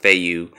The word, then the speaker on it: Fei Yue: long name the FEI you I guess it's pronounced Fei Yue F y zero seven desert eagle rock racing